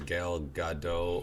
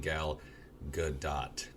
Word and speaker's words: Gal Gadot: not i don't care instead of saying her name is gail gadot or you should be saying gal gadot the actor showed me jimmy kimmel how to correctly say her name telling him to emphasize the t a bit more good i don't